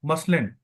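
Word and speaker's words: muslin: इसमें एक तो था मसलिन। मसलिन एक्चुअली में इंडिया में मलमल को कहते थे, तो इनसे प्रोनाउंसिएट नहीं हुआ तो इन्होंने इसको मुस्लिन कहा। मुस्लिन या मसलिन आप कुछ भी कह सकते हैं।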